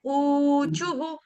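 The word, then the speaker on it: ऊचुः: है चू विसर्ग छोड़ने विसर्ग से पहले हमारा शब्द है छू इसीलिए क्या हो जाएगा वहां पे विसर्ग का उच्चारण हम करेंगे हु ख और छोटा उ गोप्य उचुहु कैमरा ऑन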